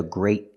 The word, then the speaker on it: great: But the word great has a T and we pronounce it with a stop T. It's a great car. Listen to the difference. It's a great car. It's a gray car. There is a pronunciation difference. We pronounce the T.